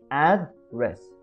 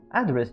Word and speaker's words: address: كاين الأولى إلا درتي stress في الأول ديك address. إلا درتي ديك stress في الأن معنى ديالها كيكون address يعني كما قلت لكم يعني الادريس هذا شي واحد وكنت قال بهكا address.